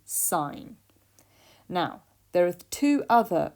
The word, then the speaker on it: sine: button on your calculator you may have pronounced it as sin but it is actually sine now there are two